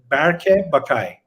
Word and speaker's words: Bakay: are doing a pretty good job it's uh bakay my first name is berkey and last name